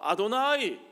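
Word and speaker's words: Adonai: 하나님, 우리의 하나님 주 여호와 아도나이, 이 여호와라고 쓰고 사실은 그들은 발음을 The Lord, 주님, 아도나이라고 발음했어요.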